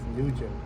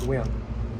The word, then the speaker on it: Nguyen: Her last name is Nugent. Well, for American they pronounce it Nugent, but in Vietnamese it's pronounced Nguyen.